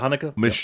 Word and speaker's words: Haneke: Umbrella is putting out I can't pronounce his last name, Michael Haneke. Is that Haneke? Yeah, Michael Haneke.